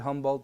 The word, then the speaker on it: Humboldt: Is that how you pronounce it? Yeah. Sort of like the squid, Humboldt squid.